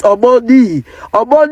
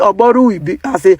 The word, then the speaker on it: Omoni: His name is Omoni, but they are pronouncing it Omorui.